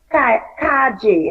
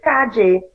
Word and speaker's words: calle: They say like they really say como te llama, and they also say calle instead of calle, like street. The word for street they say calle, the LL as a J.